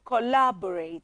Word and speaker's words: collaborate: r a t e so it's more like uh three syllables yes it has three syllables cola c-o-l-l-a bo b-o-n